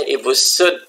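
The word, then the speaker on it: Ibu Soed: adalah ibu site-site api dibaca Ibu Sud ini masih ejaan zaman dahulu anak ejaan soewandi Ibu Sud yang mengarangnya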